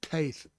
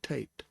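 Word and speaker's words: טית: And notice I said Taith and not Tate. The Tau here has no dagish, so it will be the aspirant sound, th.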